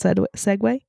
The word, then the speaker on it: segue: pics, you like that segue? Sideways? Sideways? Well, I said way at first, Segue? which is obviously incorrect, so I had to fix it, and then I still sounded like I said it wrong.